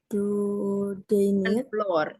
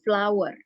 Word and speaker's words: flour: Miss ya mana aja much floor Flor Tapi bacanya kalau tepung tuh flower ya berapa bukan ya